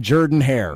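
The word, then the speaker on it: Jordan-Hare: University of Auburn, and he pronounced it Jordan Hare. That's good.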